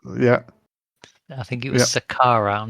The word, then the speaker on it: Saqqara: I think it was Saqqara. I'm not sure what that was. Saqqara is Sakkara, or you can spell it with a double Q, but it doesn't really matter.